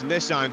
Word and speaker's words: Nissan: to pick you up on one of the pronunciations you didn't quite get correct earlier on Sean it's Nissan gen now you've got to see it very